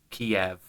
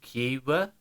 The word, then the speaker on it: Kyiv: But then what bothered me was how I understood from Xenia's comment here how to say Kiev sounded more like the Russian pronunciation in those recordings than the Ukrainian one, which was more like Kyiv.